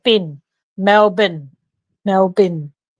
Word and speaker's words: Melbourne: and that was to melburn here in Australia not Melbourne Melbourne and so if for those in America who pronounce it Melbourne just say Mel and then bin like bin Mel bin Mel bin it's easier